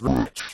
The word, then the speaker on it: Rich: it's Rick is it how do you pronounce it in New Zealand it's rich but um I don't know how in the states it's you you can call me anything you want it's rich I go by Rich Richie